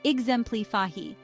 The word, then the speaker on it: exemplify: example the pronunciation is exemp fahi with the stress on the second syllable use exemplify when you